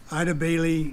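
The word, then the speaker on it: Eide Bailly: Next item is approval to enter into an agreement with, help me on the pronunciation, Ida Bailey for auditing services.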